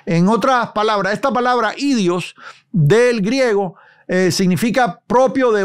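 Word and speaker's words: ἴδιος: Y usted se da cuenta aquí en el versículo 5, la palabra que se diría idios, se puede pronunciar así, transliterar así, idios, significa propio.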